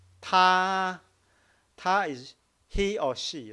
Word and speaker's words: 他: So I will say, if you want to pronounce the first tone, I want you to prolong, make it very, very long. Ta, because it's the highest part of your voice range, so you can make it very long.